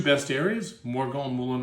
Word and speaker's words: Morgon: It's very easy to pronounce. It's called Morgon. It's not complex.